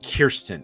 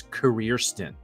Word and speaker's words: Kirsten: my name is not Kirsten. Everybody pronounces it. The R is before the I and after. It's career stint.